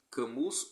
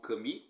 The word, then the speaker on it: Camus: E aí um livro para mim, do Albert Camus, ou Camus, eu já vi as duas pronúncias, O Mito de Sísifo.